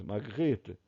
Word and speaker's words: Magritte: A pronúncia do francês, Magritte.